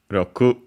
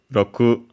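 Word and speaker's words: 六: this one Roku. Never mind the other readings. Uh, in this ca for now, Roku accented on the last one again could also be pronounced with barely the if not at all.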